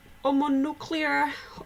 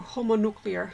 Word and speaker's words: homonuclear: Let's talk about homonuclear or homonuclear, homo, you all pronounce the H in English.